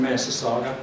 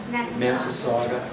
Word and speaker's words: Massasauga: Eastern Massasauga. Massasauga. You have to say that a few times before you remember those four syllables.